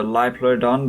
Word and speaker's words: Liopleurodon: like Laura Dunn or Liopleurodon I'm sure it's pronounced live Lloyd on but yeah the live